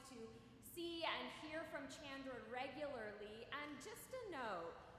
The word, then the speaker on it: Chandra: see and hear from Chandra regularly. And just a note, Chandra's name is sometimes mispronounced. So the CH part sounds like a ch, and the A part sounds like an A.